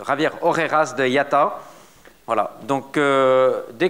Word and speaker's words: Javier Orejas: Il faut le prononcer, Javier Orejas de IATA.